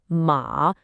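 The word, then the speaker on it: 马: But said with a dipping, third tone, ma, it means horse. As you can imagine, getting that wrong could make for a very awkward family introduction.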